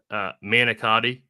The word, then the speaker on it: manicotti: But is it shameful that I don't know what how do you pronounce that one more time, if you don't mind? Manicotti.